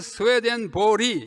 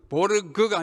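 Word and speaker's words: Swedenborg: 세 번째는 줄 베른, 네 번째는 에마누엘 스웨덴 보리, 이것도 보르그가 아니고 보리라고 읽어야 스웨덴 말입니다.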